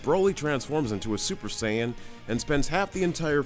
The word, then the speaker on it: Saiyan: The only real way I can describe him is that he's basically an all-powerful Saiyan warrior, or Saiyan warrior, because let's be honest, that is legit how it's spelled, who was born with immense power on planet Vegeta.